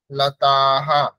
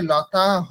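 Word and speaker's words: লতাঃ: আকার উচ্চারণ করতে হবে লতাহা এখানে লতা হ বললে হবে না লতাহা বলতে হবে হ আকার বলতে হবে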